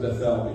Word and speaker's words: Bethel: I like to pronounce it Bethel because the word Beth in Hebrew stands for house, and the word El is the name for God. So Bethel means the house of God, or God's house.